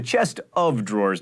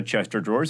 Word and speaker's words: chest of drawers: are wolves still around it's a chest of drawers not a chester drawers as i learned when